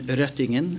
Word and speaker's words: Røttingen: What I want to congratulate John-Arne, and I will correct you on the pronunciation, Røttingen, of his last name, and his commission for,